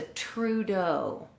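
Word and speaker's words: Trudeau: lot this is called it's a true dough i will spell it for you t-r-u-d-e-a-u and i've already gone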